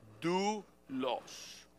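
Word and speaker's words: δοῦλος: palabra siervo en el griego Cómo Cómo se pronuncia alguien sabe escríbanlo en sus notas do los de o u l o s Yo sé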